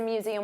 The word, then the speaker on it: museum: So notice you have that voiced Z sound, museum. And there are 3 sounds, museum, museum, museum.